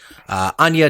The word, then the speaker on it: Anya: Anya Taylor-Joy as Sandy, and I said it right this time. I'm sorry for anyone who listened to the New Mutants episode where I called her Anna Taylor-Joy multiple times and no one corrected me.